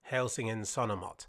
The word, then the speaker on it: Helsingin Sanomat: And this map was a project by the largest subscription newspaper in Finland, which I believe is pronounced Helsingin Sanomat.